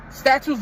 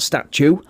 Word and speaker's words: statute: First of all, it's statute, not statue. If you're going to get the definition of the word wrong, at least say it right.